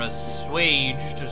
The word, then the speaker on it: assuage: As they near the town of Seraphiu, Erica's fears are assuaged.